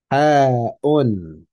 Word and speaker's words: ح: So we're going to ha, ha-un, ha-un, okay? Ha-un. And make sure you have that air.